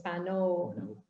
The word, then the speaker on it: panow: sa Tagalog, I guess it's panaw with an A, right? Yes. Pero Manobo, ang transformation niya is panow. Panow. So we spell it with an O.